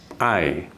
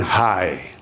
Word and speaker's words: hay: dan pertama-tama perhatikan ini ini diucapkannya ai bukan Hai ingat dulu huruf H ini dalam satu kata tidak diucapkan huruf h nya itu ya